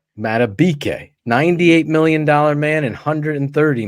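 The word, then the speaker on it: Madubuike: Matabike. Matabike, $98 million man and $130 million man.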